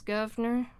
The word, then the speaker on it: governor: And governor becomes governor, right?